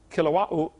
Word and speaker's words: Kilauea: Basalt from Mount Kilauea, however you say it. They pronounce every vowel over there in Hawaii. Kilauea, Kilauea-iki, something like that.